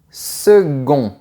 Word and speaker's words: second: Oui, c’est une chose un peu bizarre encore une fois, mais même si tu vois la lettre "C", tu dois prononcer la lettre "G" et dire : second.